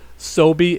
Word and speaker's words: SoBe: Sobe. It's spelled like S-O-B-E.